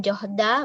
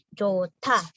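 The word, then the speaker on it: 좋다: Kalau ada huruf H ketemu sama diget, maka dibaca seperti tiet. Jadi seolah kalian bacanya cota. Bukan johda, bukan johta, tapi jota. Jota.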